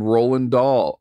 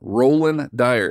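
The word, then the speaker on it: Rohlan Dyre: up with in here named roland dahl uh roland dyer and uh roland dahl someone else uh roll roland dyer roland sorry i keep saying it wrong roland dyer is a mandalorian theme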